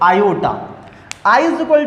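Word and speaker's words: iota: इसको डिनोट किससे करते हैं, मतलब i से डिनोट करते हैं, और प्रोनाउंसिएशन में क्या बोलते हैं इसको, आयोटा।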